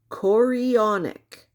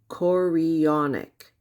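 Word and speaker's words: chorionic: Corionic. Gonadotropen. Gonads. Think of tonic. Corionic.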